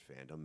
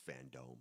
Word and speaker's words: FanDome: But DC for sure told everyone, like, hey, people are calling it Fandom. Make sure it's FanDome.